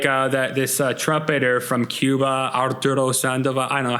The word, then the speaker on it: Arturo Sandoval: Or like this trumpeter from Cuba, Arturo Sandoval. I don't know how to pronounce it. You pronounced it really good. You rolled your R's. Yeah. That was solid. Okay, Arturo Sandoval.